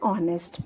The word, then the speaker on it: honest: a next is an honest man we have used an before honest because it is silent and we are getting